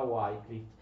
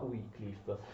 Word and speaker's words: Wycliffe: John Wycliffe, che non si pronuncia comunque John Wycliffe, non si pronuncia Wycliffe, si pronuncia Wycliffe.